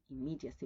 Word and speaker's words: immediacy: Immediacy with double M, but we pronounce only one, right?